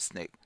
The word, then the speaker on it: SNCC: the student non-violent Coordinating Committee SNCC pronounced snake held a meeting at